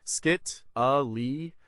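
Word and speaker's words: scytale: The Spartan decryption agents in their use of the sight tail pronounced skit ali are fascinating examples of ancient secure communication and intelligence during the pelpeneisian war 431 to 404 B.CE.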